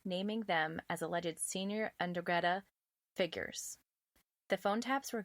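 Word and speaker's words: 'Ndrangheta: It has a weird N in front of it. I can't do it. Hey Google, how do you pronounce Ndrangheta? That's pronounced Ndrangheta.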